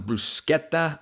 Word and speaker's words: bruschetta: I'm going bruschetta bites.